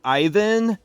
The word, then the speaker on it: Ivan: His name is spelled Ivan, but it's pronounced Ivan.